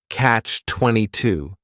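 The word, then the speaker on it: catch-22: This is two words. It's a compound noun. The word catch is just one syllable and then 22 is three syllables and the stress is on that final syllable.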